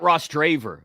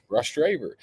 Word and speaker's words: Rostraver: like Rostraver just because why do you say it Ros draver like Latrobe that's that's how you say it rush dver I play for rash